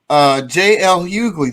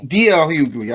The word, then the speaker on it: D.L. Hughley: a little while, but J.L. Hughley, did you hear about that? Oh, well, yeah, I heard about that as well. Yeah, that D.L. Hughley, I said his name wrong.